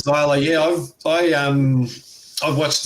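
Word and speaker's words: Xyla: her say her name xila zyla Fox it is zyla yeah I um I've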